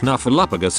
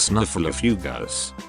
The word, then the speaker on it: Snuffleupagus: snuffleupagus account only follows Big Bird just like any good imaginary friend would do with Big Bird today I learned it's snuffleupagus and not snuffle a few ghosts is it still pronounced